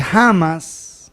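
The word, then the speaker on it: Hamas: pasar hicieron un acuerdo los de jamas que se escribe con h amas y los de alta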